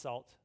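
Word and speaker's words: NaCl: high level knackle library it's actually pronounced salt i always say mackerel from djb and tanya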